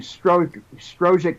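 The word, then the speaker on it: Strzok: Strojic, whatever it's pronounced. Struck. Right. It's pronounced Struck, yeah.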